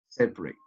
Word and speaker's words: separate: e miserable and finally separate separate later a is not pronounced as you can see